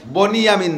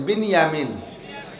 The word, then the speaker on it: বিনিয়ামিন: ভাই ইউসুফ আর বিনিয়ামিন বনি ইয়ামিন না একটু উচ্চারণে বিনিয়ামিন শব্দটা কি বিনিয়ামিন আর বনিয়ামিন কেউ নাম রাখলে বনিয়ামিন বললাম বিনিয়ামিন বিনিয়ামিন দুই ভাই আর উনার